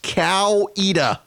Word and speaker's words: Coweta: cat no no no it is it is pronounced cow EDA say cow either County or they know you're